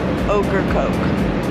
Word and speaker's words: Ocracoke: Ocracoke, okra and coke put together, the vegetable and the drink.